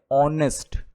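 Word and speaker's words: honest: तीसरा सेंटेंस है की इसे ऑनेस्ट मत रीड करना कभी भी ये बहुत गलत बात है ऑनेस्ट है ये इसमें हा जो होता है वो साइलेंट होता है इसको हम ऐसे पढ़ने हैं ऑनेस्ट ठीक है तो ही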